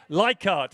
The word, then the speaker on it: Leichhardt: And Male Masters A to C, Leichhardt. Am I pronouncing that correctly now?